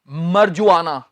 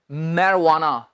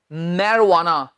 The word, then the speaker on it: marijuana: इससे बहुत से लोग बोल देते हैं मरजुआना। ये जो इसमें जे है ना, इसे हम जे की बजाय व की साउंड निकालेंगे। अब ध्यान से सुनना, इसका सही उच्चारण है मैरवाना। मैं फिर बोलता हूं, मैरवाना, मैरवाना, ये व की आवाज निकलेगी, मैरवाना।